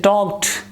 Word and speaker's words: talked: It is talked. Talked. Ta sound. So in these three words, the ending sound, which is da, it becomes ta.